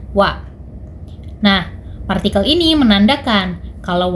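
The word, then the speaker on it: は: Walaupun dia ditulis menggunakan H, dia tetap dibacanya wa.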